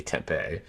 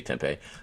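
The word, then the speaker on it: tempeh: I've always got temp Tempe this is spelled Tempe should be Tempe not like the city Tempe but I've also always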